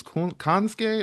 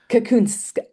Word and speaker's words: Kakunsa: I think it's Kansuke or Kunsuke. Kakunsa.